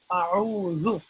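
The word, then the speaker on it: أعوذ: The simplest way to pronounce this zu is that for zoo, right? We're just making that buzzing sound. For zoo, we are touching the tip of our tongues with the tip of our upper teeth in the front.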